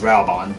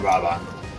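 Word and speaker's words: Raubahn: so here's rob well i think it's actually pronounced raubon but i call it robot all right well if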